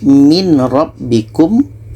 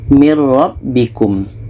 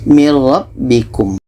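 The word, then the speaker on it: مِن رَّبِّكُمْ: kita masukkan ke ro yang asalnya adalah min rabbikum min rabbikum tapi yang betul bacanya adalah nun ini kita masukkan ke ro mir rabbikum tidak ada dengung mir rabbikum seterusnya untuk contoh tanwin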